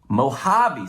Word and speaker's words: Mojave: It says it's a part of the, actually, how do you pronounce that? Mojave series.